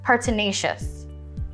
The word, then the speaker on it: pertinacious: the word of the day is pertinacious pertinacious is an adjective pertinacious is spelled p e r t i n a c i o u s pertinacious partenacious is pronounced partenacious means someone who